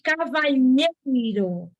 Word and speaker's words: Cavalheiro: lá preste atenção cavaleiro Olha a minha pronúncia Cavaleiro e Cavalheiro uma é com l e a outra é com lh isso aqui é o